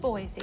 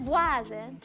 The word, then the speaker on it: Boise: Yes, also home to the capital city of Boise. Oh, I hate to correct you, Charlize, but it's pronounced Boise.